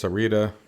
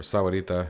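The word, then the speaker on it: Sahuarita: Like you can see there's Sarita, or Sawarita if you want to say it correctly.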